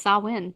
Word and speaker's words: Samhain: I've only heard Samhain. Samhain. Oh, yeah. I hate to say it, but like Google pronounce. When you do the robot lady. Yep, it's Samhain.